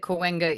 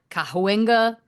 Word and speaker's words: Cahuenga: Well done on your pronunciation of Cahuenga. Because I live in Los Angeles, Of and course. there's different interpretations. My belief is that Cahuenga is correct. Sure. Some people call it Cahuenga.